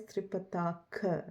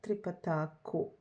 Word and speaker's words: tripataka: Tripatako, but the name of the hasta mudra is tripataka, not tripatako.